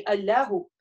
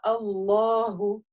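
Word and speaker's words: الله: Не алляху, а Аллаху. Вот.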